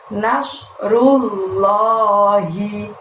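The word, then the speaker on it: نَصْرُ اللَّهِ: Lalu setelah itu ada lafaz nasrullahi. Nah, pada saat membaca nas di situ mulutnya didorong ke depan.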